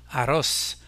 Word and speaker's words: arroz: L'accent portera donc sur la dernière syllabe du mot et on dira arroz, el arroz.